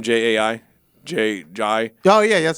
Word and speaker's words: Jai: Jai.